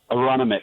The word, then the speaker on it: Aronimink: Uh what is uh distinctive about uh this place, which I can't pronounce? Aronimink? Aronimink.